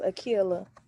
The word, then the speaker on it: Akila: Oh, and my name's pronounced Akila, by the way. Like Akila and the Bee?